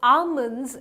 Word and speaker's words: almonds: our life callers and I call this almonds almonds almonds no none of it is correct they call these almonds so almonds is the correct pronunciation right so whenever next